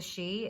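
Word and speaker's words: sidhe: the um part of the fairy kingdom the she it's spelled s-i-d-h-e they're like the royalty of the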